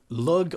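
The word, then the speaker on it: Lugh: add a +1 and log or Lu I've heard it pronounced both ways and if you gain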